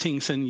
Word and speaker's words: Hingson: It's pronounced Hingsong.